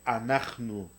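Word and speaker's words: אנחנו: Se dice anachnu. Anachnu es nosotros y nosotras. Y como tanto hombres como mujeres lo pueden usar, bueno, ahorita entramos en esa parte. Entonces, anachnu, vamos a ver un momentito aquí.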